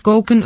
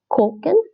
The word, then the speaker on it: koken: Like I said, broers, moeders, broers, de broers koken. This is actually pronounced like a long O. Now, there's a bit of a complicated rule between so koken means to cook in Dutch, right?